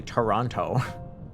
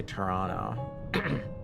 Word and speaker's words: Toronto: So, here's Toronto, right? Don't pronounce the last T.